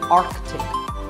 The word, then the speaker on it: Arctic: clothes that's also correct in some words people think a letter is silent but it's not for example look at this word what is it it's Arctic this is the name for the region at the North Pole of the earth it's mispronounced by many as Arctic but it's actually Arctic the seat in the middle is not cited similarly aunt Arctic and Antarctic